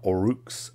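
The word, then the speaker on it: Orruk: spelled with an a orcs are now or rooks o-r-r-u-k that sort of thing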